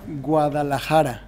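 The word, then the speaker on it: Guadalajara: it I I'll try my best it's uh guadalahara so say it with me it's gu guadara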